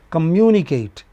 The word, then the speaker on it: communicate: Communicate one two, three, four or four you know? Polysyllabic word, the stress comes on the antepenultimate. This is final, this is pre-final, this is pre-pre-final. The stress comes here. You know? For all words ending in -ate it goes two syllables before.